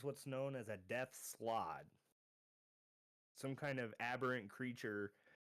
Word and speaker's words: slaad: It's spelled Slaad, but I'm pronouncing it slod because that's kind of how it Okay, slide.